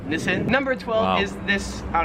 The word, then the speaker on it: Nissan: card right here so we would pronounce this in america as nissan however here in australia it is pronounced nissin number 12 is this